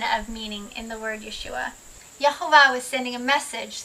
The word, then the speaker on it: Yeshua: what would Jesus do but actually what would Yeshua do and that my friend when you answer